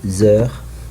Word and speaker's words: heure: of the word heure, but I will not pronounce the letter e or s, e and s, and also the letter h or h I don't pronounce it.